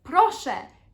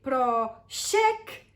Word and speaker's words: proszę: Because proszę and proszek are 2 different words. And if you say proszek, I will laugh as a friend.